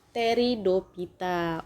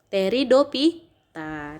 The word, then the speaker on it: Pteridophyta: Kemudian tumbuhan yang kedua adalah si Pteridophyta. Oke, Pteridophyta. Jadi itu kan bacaannya peteri. Jadi kamu bacanya teri. P-nya nggak usah dibaca, Nak.